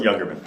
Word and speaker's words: Jungermann: I'm here with Jungermann. Is that how you pronounce it? Close. Jungermann.